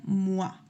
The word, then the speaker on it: moi: en español se va se pronunciaría como un oa. Por ejemplo, la palabra mua, como yo, eh, no se pronuncia moi, sino se pronuncia mua.